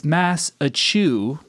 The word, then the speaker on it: Massachusetts: here is he's going it's massachu massachu as in mass in Mass produce but without produce now that is the